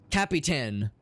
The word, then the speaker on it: Capitan: Not Captain Perkins. Capitan Perkins. 3 syllables, count them.